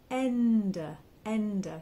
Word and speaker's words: Ende: the S is a z Zo mine m-i-n-e Ender so it's like the word end it is